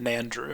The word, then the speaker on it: Nandru: Nandru? Nandru. I think they just pronounce it Nandru. Nandru, okay. Nandru. Like Andrew with an N.